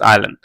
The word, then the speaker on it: island: also two Saint Martin's আইল্যান্ড তুমি আরো দেখতে যেতে পারো সেন্ট মার্টিন আইল্যান্ড এটার আই এস এল এন টি উচ্চারণ আসবে হচ্ছে আইল্যান্ড আইল্যান্ড তুমি আরো যেতে পারো সেন্ট